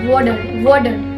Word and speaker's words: water: And the first type, which I am going to tell you, that if the T comes in the between of the words, then they pronounce as D.